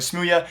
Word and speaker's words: smooya: their certified roster so best of luck to smooya that's how you pronounce his name I was told that this